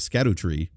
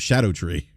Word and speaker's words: Scadutree: It's spelled Scadutree. And I was actually pronouncing it Scatto Tree instead of Shadow Tree.